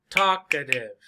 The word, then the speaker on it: talkative: talkative so the word talk talkative how many syllables talkative talkative talkative three syllables talkative right talkative now remember